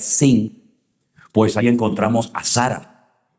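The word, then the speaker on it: שׂ: que tiene doble pronunciación, porque si arriba te encuentras un punto a la derecha es shin, y si te encuentras arriba un punto a la izquierda es sin, pues ahí encontramos a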